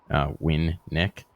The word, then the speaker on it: Winnick: See, my last name is usually a pretty straightforward one, because at least in English it's pronounced pretty much exactly as it's written. Win Nick.